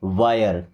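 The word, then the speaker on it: wire: आई की तरह उच्चारण करेंगे।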